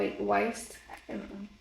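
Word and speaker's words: Wiest: get it from Brianna Weist that's how you pronounce it wa Weist yeah yeah and then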